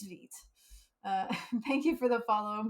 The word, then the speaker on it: Vite: pronounces something wrong so I do believe it's Veet thank you for the